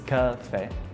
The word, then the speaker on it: café: The pronunciation is café. In Russian, we say coffee. So like the accent is on the O part. Coffee. We have like a little accent on the letter E. That's where we mark where the stress should be.